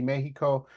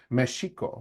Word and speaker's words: Mexico: And it comes from this notion of when Mexico was conquered by the Spaniards, you actually pronounce the X as a she name, a she sound. So it used to be Mexico, okay, or Mexicas.